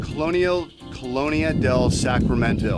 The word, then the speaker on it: Colonia del Sacramento: This is our last day in Colonia del Sacramento.